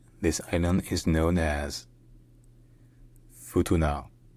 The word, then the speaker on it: Futuna: lake so locally this island is known as Futuna Futuna fu to now F now all right if you enjoy learning our pronunciations don't forget to subscribe to my channel